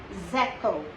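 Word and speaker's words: zéro: So 0 is pronounced as zeko. R is giving Ka sound, zeko.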